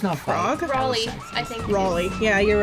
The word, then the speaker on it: Raleigh: Riley unless there's no frog rally I think Raleigh yeah you're right raleigh but it's spelled really weird yeah raliegh it's like our